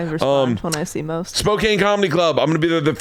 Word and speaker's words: Spokane: Spokane is the shit. Am I saying it wrong? Spokane, yeah.